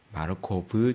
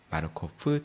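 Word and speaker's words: Markov: 체인 이라고 부르고 있고 러시아에서 v 낸 소유 러 발음이 나기 때문에 마르코 불 체인이 아니라 마르코프 체인 로 발음이 나죠 2 마 커프 체인은 문자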